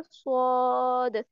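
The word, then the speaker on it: ص: से लगाकर मजबूती से मजबूती से एक तरह इस तरह लगाएंगे, और फिर क्या करेंगे, पीछे से जो हमारी जुबान है इसको ऊपर की तरफ तालू की तरफ बुलंद करेंगे, तो हमारे पास क्या प्रोनाउंस होगा, स्वाद।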